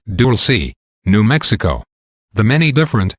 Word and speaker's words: Dulce: place there near the small town of Dulce, pronounced Dulce, New Mexico.